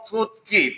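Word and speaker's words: 듣기: তো সাংগিয়কে হচ্ছে ক, এই জন্য এটাকে বলবো থুত কি। থুত গি না, থুত কি মানে হচ্ছে লিসেনিং।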